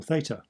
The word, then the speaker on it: theta: If you get more subtle about it, your brain waves change, and you have theta or theta waves, depending on whether you're American or British in your pronunciation of Greek.